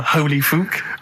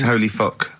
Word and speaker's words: Holy Fuck: Please, can we have more Holy Fook? You're not pronouncing it right, I Steve. know. I was just a bit edgy there. It's Holy Fuck, the little Chinese fella.